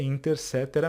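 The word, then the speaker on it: Inter caetera: Professor tá escrito aí Inter quetera Eu já ouvi falar Inter quetera pessoal não tem problema nenhum tá isso aqui é latim mas a a pronúncia correta é interca mesmo tá bom o que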